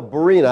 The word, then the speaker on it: Berean: your church I often get Korean Bibles no Barina have to spell it every time maryam ber EA and Maryam